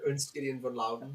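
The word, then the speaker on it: Ernst Gideon von Laudon: I'd certainly say it that way, but Alex is our expert on the German pronunciation, so yeah, Ernst Gideon von Lauden.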